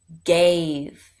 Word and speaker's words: gave: long A, blend, gay, sound of a V, v, what's the word? Gave. And there's a silent E there, which makes that vowel long, right?